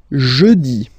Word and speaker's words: jeudi: Next one, jeudi. Jeudi. Remember, when you combine this E-U, you get the sound E. Jeudi.